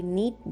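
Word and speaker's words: knead: में नीट बोलते हैं के एन ई ए डी नीट जहां के साइलेंट होता है डो का मीनिंग होता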